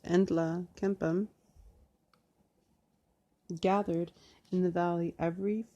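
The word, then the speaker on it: Nlaka'pamux: I read Naklapamu, but it's pronounced Entla Kempam, gathered in the valley every fall around the towering guardian pine tree to socialize and dance.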